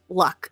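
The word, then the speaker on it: Lugh: and his name was luck is how you pronounce it it's spell l-u-g-h but it's pronounced luck and he was originally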